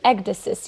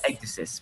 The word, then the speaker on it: Ecdysis: How do you, you let me know if I'm pronouncing that It's correctly? Ecdysis, yes. Ecdysis, perfect.